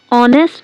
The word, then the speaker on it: honest: Use an before honest and r. Here h is silent.